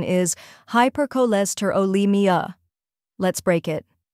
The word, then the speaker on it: hypercholesterolemia: The correct pronunciation is hypercholesterolemia. Let's break it. First part, hyper, like in hyperactive.